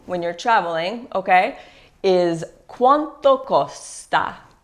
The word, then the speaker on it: quanto: useful Electra COO when you're traveling okay is quanto Costa quanto Costa is how much is it how much